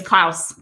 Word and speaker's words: Clouse: i just realized your last name is klaus yes it rhymes with the house and eric hornung gee